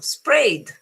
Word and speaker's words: sprayed: If the final is a sort of vowel, as in sprayed, the pronunciation is d.